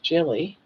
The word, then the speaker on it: Gilly: Our friend Gilly Gilligan pronounced Jilly was interviewed by DC Rebuilding last year.